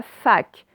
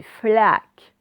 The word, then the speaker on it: flaque: C'est pas fac, c'est flaque. OK?